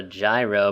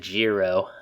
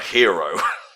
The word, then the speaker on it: gyro: out of your mind it's called a gyro but you're supposed to pronounce it Jiro or hero Daria you'll wind up